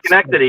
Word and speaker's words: Schenectady: In case of relocation, if I would move to the US, so there is this big plant in Schenectady. Am I pronouncing it correct? Yeah, Schenectady.